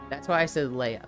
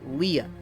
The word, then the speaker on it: Leah: I see L-E-I-G-H and I think slay. So that's why I said Leia, but it's Leah. Leah. That doesn't seem crazy to you, right? That doesn't seem crazy for people to go with the slay pronunciation, right?